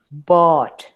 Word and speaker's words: bought: Sí, bought. Traten de hacerla como si hicieran una A, pero bien atrás de su garganta.